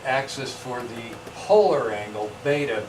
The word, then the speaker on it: beta: for the polar angle, beta. Beta rhymes with theta, so alpha's got the